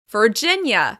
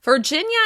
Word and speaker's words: Virginia: Moving on, let's talk about Virginia. Virginia. Virginia is stressed on the second syllable.